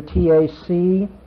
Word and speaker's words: Tacitus: There was a Roman historian by the name of Tacitus. Want me to spell that for you? T-A-C-I-T-U-S, Tacitus.